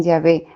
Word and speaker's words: Yahvé: hw h en español que algunos pronuncian yahvé en muchas de nuestras